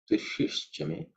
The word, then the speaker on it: Tushishchame: In terms of pronunciation, the shi is the third, cerebral sha. So the tongue, tip of the tongue should be pointing upwards. Tushishchame.